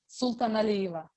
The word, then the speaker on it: Sultanalieva: So I will start by presenting Sultanalieva. Is it the right way of telling of saying your family name? Of course not. A little bit not. How do you say it? Sultanalieva.